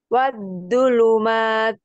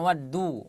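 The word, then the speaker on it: والظلمات: betul wasama betul bawahnya wadzulumat wadzu bukan Wadu wadzulumat wulumat Betul azzakah He wasajar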